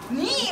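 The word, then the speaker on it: に: Beautiful pronunciation. 2 is. Knee, wonderful.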